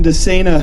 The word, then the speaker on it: DeSena: Moving things along here, I asked Representative Jim DeSena how to pronounce his name. He said, just think insane for running for public office. That's how you remember it.